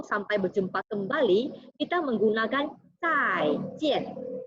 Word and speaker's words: 再见: Kemudian untuk salam perpisahan atau sampai berjumpa kembali, kita menggunakan zai jian. Lihat, ian ini dibaca yen, yen. Jadi ini bacanya adalah yen.